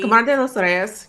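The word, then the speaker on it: Kamar de los Reyes: Camar de los Rios, yep. Thank you. Yeah, you pronounce it better.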